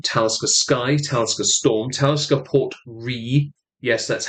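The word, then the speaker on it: Port Ruighe: Sky, Talisker Storm, Talisker Port Re. Yes, that's how it's pronounced. Ruighe. All the letters except for the R and the E are silent.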